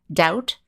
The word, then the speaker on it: doubt: here are some other words that use the silent b doubt uh doubt is when